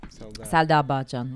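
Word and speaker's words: Selda Bağcan: that singer, Selda, I don't know how to pronounce her name. Selda Bakan, yeah.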